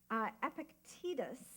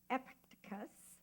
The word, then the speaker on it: Epictetus: not be great well Epictetus I'm not sure I'm saying that epic takus thank you I just needed to get the right syllables allowables yes a Greek